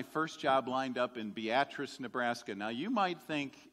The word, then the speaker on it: Beatrice: the Nebraskans do and call it Beatrice you got to put the emphasis on the right syllable so I was in